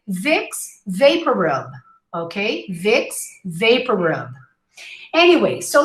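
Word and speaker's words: Vicks VapoRub: it to them but the correct form is to say vixx vaporub okay vixx vaporub anyway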